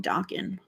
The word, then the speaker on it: Dokken: Many people say it wrong, Dokken.